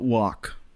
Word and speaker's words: walk: not half MH uh or how about walk now the a sound changes there the L is dropped again or talk but the